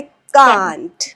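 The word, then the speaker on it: can't: जैसे आप सी ए एन टी हम कांट बोलते हैं। सो ब्रिटिशर्स ए पे ज्यादा स्ट्रेस देते हैं। दे से कांट कांट where as American they put very less stress on ए। दे से कैंट। सो प्रोनंसिएशन से आप पहचान लेते हो।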